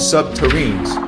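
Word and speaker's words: subterrene: SSP proponents claimed that construction involved nuclearpowered tunneling machines called subterines, rhymes with submarine, capable of melting through rock and soil, creating smooth glass-like tunnels.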